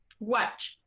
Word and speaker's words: watch: Se pronuncia what? Watch.